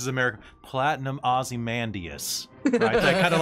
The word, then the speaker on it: Ozymandias: osmandius platinum osamandrius but pronounced like a british person pronounced as america platinum ozymandias kind of like gravelly